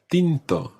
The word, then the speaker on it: tinto: wine you say bino tinto pino tinto literally tinted wine and try to make um that the t sound is one of those soft t's we're going to talk